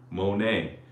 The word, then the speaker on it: Monet: So 모네 같은 경우에 T 있지만 우리 발음 안 하잖아요. So Monet 아니고 모네.